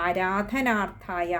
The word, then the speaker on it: ആരാധനാർത്ഥായ: അടുത്ത വരി വരുമ്പോഴും വിഷ്ണുരാ ആരാധനാർത്ഥായ അവിടെ വിഷ്ണുരാധന അവിടെ ആദ്യത്തെ രക്ക് അകാരം നീട്ടിയെടുക്കുക ആരാധനാർത്ഥായ ആണ് പിന്നെ അടുത്തത് സ്വപുത്രസ്യോദയായച സ്വപുത്രസ്യോദയായച